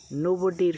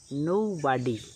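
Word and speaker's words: nobody: নোবডি আমরা সবাই বলি এটার দুটো সঠিক উচ্চারণ রয়েছে ইট হ্যাজ টু কারেক্ট প্রনান্সিয়েশনস নোবডির সঠিক উচ্চারণ হচ্ছে আমেরিকান উচ্চারণ হচ্ছে নোবডি এবং ব্রিটিশ উচ্চারণ হচ্ছে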